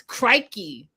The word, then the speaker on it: crikey: And I want to say it's crikey. That's the proper way to say it, even though it looks like cricky. It's crikey.